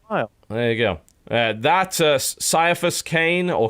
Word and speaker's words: Caiaphas Cain: That Caiaphas Cain, or Caiaphas Cain, some people prefer to pronounce it, is a kind of comedy.